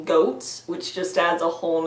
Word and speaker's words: Goths: an army of Goths the original pronunciation of Goths is actually goats which just adds a